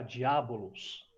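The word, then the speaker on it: διάβολος: Esse nome, ele é uma transliteração do grego que se pronuncia diabolos, tá?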